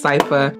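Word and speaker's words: Sypha: a month ago so I might say her name wrong but I think her name is cipa okay yeah so I had it right I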